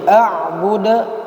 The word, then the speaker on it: أعبد: Jadi a'budu, pantulannya harus tampak dia karena dia punya hukum qalqalah.